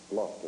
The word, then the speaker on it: Gloucester: Gloucester is the correct pronunciation.